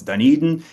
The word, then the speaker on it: Dunedin: me all the time, is it Dunedin? They don't really know how to pronounce it, so I always have to tell people it's Dunedin, and it's such a great little community.